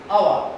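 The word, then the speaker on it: hour: to say n before our h-o-u-r our the pronunciation is our so you have to say you have to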